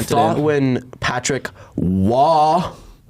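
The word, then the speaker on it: Roy: I thought when Patrick Waugh, it's Waugh. Patrick Waugh. It's Waugh.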